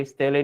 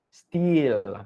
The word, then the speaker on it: stele: Okay, stele ni ada two different pronunciation lah. Steel, ada yang sebut steel juga ya.